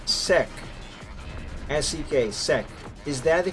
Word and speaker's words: Sek: Okay, just to clarify, to say Sek, S-E-K, Sek, is that the correct pronunciation of your current name?